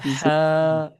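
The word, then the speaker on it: ح: বলেন এটা কি হা হ্যা হা উচ্চারণটা মুখটা একটু খুলুন গলার ভিতরে চাপ গলার গলার আমাদের যে কন্ঠনলী আছে না খাদ্যনলী যেটা বলি আমরা ওখানে একটু জোর দেন হা বলুন হা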